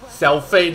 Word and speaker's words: Xiaofei: Alright, Xiaofei, that's her name. That's how you pronounce her name in Chinese, alright?